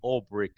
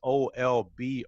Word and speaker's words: Olbrych: And again, and that's Olbrych. I remember the first time I met you, I was having a challenge pronouncing your name, and you told me it's like old brick.